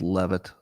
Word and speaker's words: Leavitt: Leavitt or Levitt? Because this will matter to the joke I'm about to make. I'm preparing a dad joke in my mind. It's very amusing, but it will depend on you telling me which way to pronounce her name. Because one way, oh, damn it, some people are saying it's Levitt. Damn it.